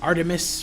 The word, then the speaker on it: Art3mis: missives the blog of a female Gunter named Artemis pronounced aremis cuz it's art3mis I discovered about it